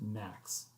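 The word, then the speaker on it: NAAQS: was the development of national ambient air quality standards pronounced max as an abbreviation these are a set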